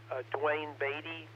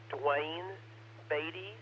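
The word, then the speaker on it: Duane Baade: Unfortunately, we have a silent key who passed away in January in Louisville, Dwayne Beatty, W5PNM.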